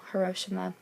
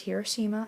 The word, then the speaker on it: Hiroshima: to atomic bombs um so hiroshima or you might hear it pronounced hiroshima i guess it could be either way um that was the